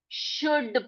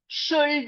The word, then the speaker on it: should: एल को वहीं पर शांत रखें, भाई तुम शांत हो जाओ, शांत होकर बैठे रहो वहां पर, ठीक है? हम तुम्हें क्या नहीं करेंगे हम, तुम्हारा उच्चारण नहीं करेंगे। तो यहाँ पर क्या पढ़ेंगे हम, इसको शुड पढ़ेंगे, शुल्ड नहीं पढ़ेंगे।